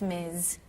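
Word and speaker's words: Ms: that's beautiful thank you now is it m or Mrs um it's Miz but you can call me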